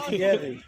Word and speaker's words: Thierry: Like Thierry Henry. Did I say it properly? Thierry. Yes.